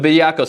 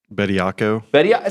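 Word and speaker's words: Bediako: Anyway, the Bediaco situation. Yeah. How do you say it? Bediaco.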